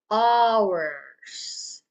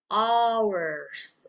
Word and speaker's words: hours: Hours. Hours. Okay. When hours, that's plural for an hour. So when you pronounce that hours, remember the S, okay? Make it hard, okay?